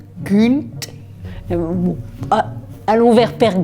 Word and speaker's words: Gynt: Et Gunt, ça s'écrit avec un Y, mais en norvégien, le Y est une sorte de U, un peu sur le bout des lèvres. Alors, les puristes diraient père Gunt.